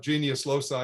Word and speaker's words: genius loci: tellurium by the way nobody knows how to pronounce latin so mine's as good as anybody else's there's three different proposed pronunciations we agreed to call it genius loci using that pronunciation but aeneas prayed to